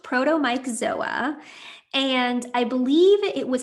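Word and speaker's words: Protomyxzoa: word but we've not heard about the co-infection protom myoa before which I'm not pronouncing correctly can you tell us more about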